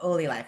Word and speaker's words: OLY Life: because it the the name derived from the word Olympics, right? So Oly life is how they pronounce it.